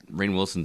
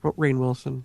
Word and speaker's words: Rainn Wilson: was a spin-off supposedly rumored, but it got shot down, so Rainn Wilson's actually become a hot commodity as of recently, apparently.